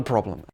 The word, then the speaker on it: problem: problem it's not a problem we have phrases like this in a lot of languages no problem now watch this word problem we stress the first half of the word we say problem no